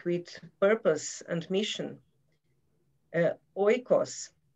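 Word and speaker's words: οἶκος: purpose and mission uh oikos ecos uh is pronounced in greek meaning creating value for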